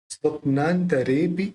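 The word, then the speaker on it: स्वप्नान्तरेऽपि: स्वप्नांतरेपि, स्वप्नांतरेपि, ये भी संयुक्त अक्षर है, तो अपन संयुक्त अक्षर में प जो है उसको स्व के साथ लेंगे।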